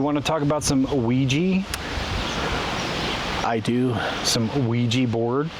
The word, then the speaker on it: Ouija: O-U-I-J-A? I think about it in French. Because oui, O-U-I, yes in French. Ja. Oh, that's a Ouija.